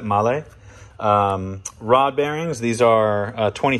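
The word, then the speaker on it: Mahle: And then we have our male, which is actually the correct way to pronounce that, male.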